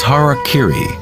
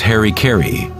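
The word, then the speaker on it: harakiri: one form of ritual suicide or seppuku was harak Kiri was often mispronounced as Harry KY it means to impale one's Hara thereby cutting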